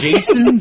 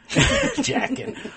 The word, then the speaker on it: Jacen: Jason coming to play actually you know it's spelled j acen so it is still kind of vibes checking jackin oh my god I certainly hope not oh it's just easy